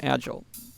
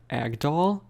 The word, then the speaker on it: Agdal: how to read Because clearly her name is Nina Agdal and I read it as adal or agel so I just know